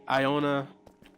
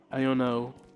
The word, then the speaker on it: Iono: Sorry, not Iona. Iono, which I always thought as an Iona. I'll be honest. I I I said her name wrong for a few years until I saw that until I got that card. I say for a few years. I said it wrong up until a few months ago when I saw the card cuz I thought it was Iona this whole time.